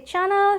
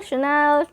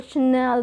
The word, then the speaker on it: Chanel: of the brand Chanel if you're not uh confident enough you might say Channel Chanel and this and that and that is how the fluency will break over there so learning pronunciation is important so that when you speak you can say you know what I spotted a beautiful Chanel bag so you can speak